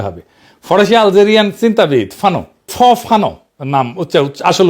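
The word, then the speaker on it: Fanon: দেখায় কিভাবে লড়তে হবে ফরাসি আল চিন্তাবিদ ফানো ফানো নাম আসল উচ্চারণটা উনি বলছিলেন পরাধীন জাতিগোষ্ঠী লড়াইয়ের ভিতর দিয়ে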